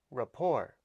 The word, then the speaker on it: rapport: with co-workers or customers you don't say the t at the end of the word it's pronounced rapport three points today i